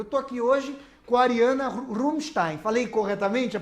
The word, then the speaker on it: Ariana Rumstain: Eu estou aqui hoje com a Ariana Rumstein. Falei corretamente a pronúncia do seu nome?